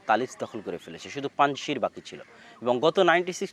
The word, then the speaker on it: পাঞ্জশির: আমরা পাঞ্জশিরের কথাটাও বলতে চেয়েছিলাম, যে পাঞ্জশির বা আমাদের বাংলায় লেখে পানশির, কিন্তু সঠিক উচ্চারণ হচ্ছে পাঞ্জশির, 5টা নদীর সমাহার।